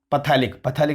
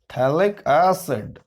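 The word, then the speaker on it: phthalic: पीएच पैथेलिक मत बोला ना, थैलिक एसिड पीएच क्या होता है? साइलेंट होता है।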